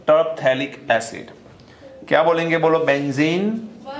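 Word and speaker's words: Terephthalic: फिर इसका नेम आएगा टर्पथैलिक एसिड, टर्पथैलिक एसिड। पी को थोड़ा साइलेंट जैसा ही देखना है यहां पर, टर्पथैलिक एसिड।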